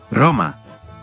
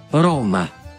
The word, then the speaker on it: Roma: la R inicial en las palabras es suave en italiano y fuerte en español. Roma. Roma.